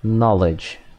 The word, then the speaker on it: knowledge: Conhecimento é knowledge. Knowledge. Knowledge. A letra K não é pronunciada.